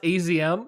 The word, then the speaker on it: AZM: I believe it's pronounced AZM. I believe that's how it's pronounced.